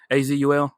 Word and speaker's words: Azul: well so i have azure i like the game it's how you pronounce it azul yes that's correct you may not like